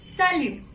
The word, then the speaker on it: salut: So we will not pronounce. It will not be salute. It will be salut.